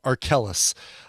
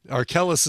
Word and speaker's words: Arkells: Brand new album from an artist by the name of Arkellis, not to be confused with R. Kelly. Arkellis is spelled Arkells, Arkells.